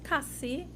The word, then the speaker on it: Cassie: pronounce it properly um you've been saying it right it's Cassie uh Cassie uh Cass yeah